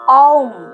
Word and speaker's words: ওম: ওম উচ্চারণটা আমরা কিভাবে করব? অ, উ, ম, অর্থাৎ অম। এবং অংটা বলার সময় আমার একদম শেষে ময়ের পোর্শনটা আমরা অনেকটা বেশি সময় ধরে করব।